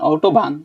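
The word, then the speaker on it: Autobahn: ভারি করে আনতে হবে না হ্যাঁ নরমালি বলবেন অটোবান হ্যাঁ হ্যাঁ ইংলিশে যেমন স্টাকে একটু চাপ দিয়ে উচ্চারণ করেন ভারি করে প্রয়োজন নাই ওটা আউটওভবান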